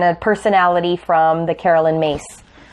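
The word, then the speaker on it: Myss: So we're going to grab an emotion from Mary and a personality from the Carolyn Mace. I don't know how she says mace when it's spelled M-Y-S-S.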